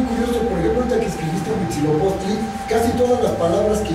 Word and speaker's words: Huitzilopochtli: En cambio, ves una H en la palabra huitzilopochtli. ¿Pronuncias esta H o no? No.